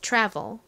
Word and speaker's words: travel: 차례죠 여행하다 여행이라는 의미를 가진 단어 뭐였나요 travel입니다 travel 가장 앞에가 오죠 그다음은요 릴 소리 나는 오고요에